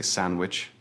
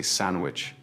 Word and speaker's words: sandwich: Although there is a letter D in the spelling, we almost never pronounce it in rapid speech. We do not say sandwich. We say sandwich.